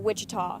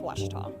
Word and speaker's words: Ouachita: Back in Texas, everybody pronounces it Wichita, but really, it's Ouachita.